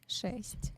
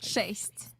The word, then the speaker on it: шесть: Шесть. Bless you. Shaste? Shaste? Шесть.